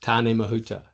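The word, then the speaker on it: Tāne Mahuta: to have a look to see how you pronounce it. The Tarn Mahuta War. Yes. Perfect. Tan Mahuta.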